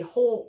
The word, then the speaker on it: whole: And when we talk about a whole note, we spell it a little bit funny. There's a W on the beginning of it. Spelled W H O L E.